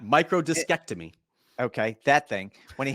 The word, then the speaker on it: microdiscectomy: You and I actually debated about the proper way of pronouncing that. I think you might have gotten it, but I'm going to go with microdissectomy. When he had Nope, that first one, absolutely not. Microdiscectomy.